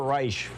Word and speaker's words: Reich: Robert Reich, however he says his name, Reich, yeah, there you go. The English pronunciation.